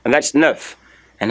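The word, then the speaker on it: neuf: nerve is L9 nine nine in French is Nerf Nerf is your nine another spell Nerf in French in French the Nerf is spelled n uh e T of course don't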